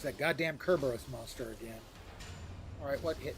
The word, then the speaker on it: Cerberus: Greeks pronounce the C as K, so it's actually it should be pronounced Kerberos.